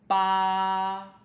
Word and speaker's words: 八: Today our first character is "ba1". “ba1" 八 is the number "eight" In China, 八 is very auspicious That is because 八's pronunciation sounds a little similar to 发.